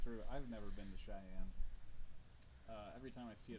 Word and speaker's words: Cheyenne: I've never been to Cheyenne. Every time I see it on the freeway, I think Cheney in my brain, because that's kind of how it's spelled.